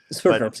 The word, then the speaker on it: Sverdrups: What is, I know it's considered a flow, what, in Sverdrups or something? I don't know how to pronounce it. Sverdrups, yes.